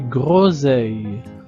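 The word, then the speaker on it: groseilles: Alors, de nouveau, le S est entre deux voyelles, la voyelle O et la voyelle e. Donc, on prononce Z. Autre observation, le E I l se prononce he e.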